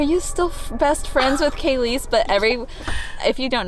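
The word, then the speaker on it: Kalyce: being like are you still best friends with kayis but every if you don't know her name is spelled k a l y c e and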